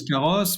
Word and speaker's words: Karos: Alors, c'est carrosse, K-A-R-O-S, qu'on prononce carrosse, puisqu'en fait, c'est le carrosse moderne.